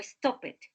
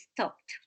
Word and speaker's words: stopped: finish in p stop so the pronunciation is stopped no stop it the appropriate pronunciation is stopped stopped stopped we stopped and then